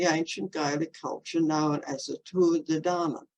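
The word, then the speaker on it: Tuatha Dé Danann: code including the ancient Gaelic culture known as a tour of the dhana it's spelled t-u-i-t-h-a but an Irish friend the other day told me to pronounce Tour de Dana which are connected with the Davis or nature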